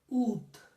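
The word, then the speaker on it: août: So August in French is ooth.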